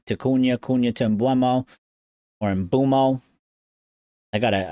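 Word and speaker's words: Mbeumo: Kuna tomb or embumo. I gota I gotta rewire my brain to call him the right name. Imbumo, not ino.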